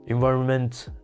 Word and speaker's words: environment: or ridiculous it's ridiculous environment the accent is also on the second syllable why so it's not